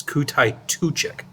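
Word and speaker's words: Kutaituchik: Kutai Tuchik, I mispronounced his name the first time, it's Kutai Tuchik, is an elder Tuchuk who can no longer fight or ride as well as Tuchuks expect.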